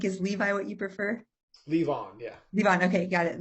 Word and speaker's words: Levon: Levon, yeah.